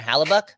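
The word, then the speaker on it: Halák: game it's gonna be Demco vers haluk honor haluk there you go I said it right there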